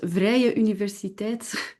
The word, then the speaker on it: Vrije Universiteit: Yes, it's pronounced Vrije Universiteit, but it's complicated.